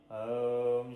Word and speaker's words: ओम: उच्चारण शुद्ध करें क्योंकि सबसे पहले ओम नहीं अकार मकार और उकार अर्थात अ उ और म अ का उच्चारण करते समय मुख थोड़ा खुला हो उ के उच्चारण में होठ गोल हो और म के उच्चारण अर्थात मकार के उच्चारण में होठ बंद हो पहले आपको हम यह